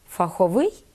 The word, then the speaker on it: фаховий: після цього це неправильно слова текстовий і фаховий вони відносяться до тих прикметників які походять від іменників з одно складовою будовою тому такі прикметники мають наголос на закінчені порівняємо ліс Лісовий лід льодовий сніг сніговий цех цеховий Отже фах фаховий текст текстовий в ми Одна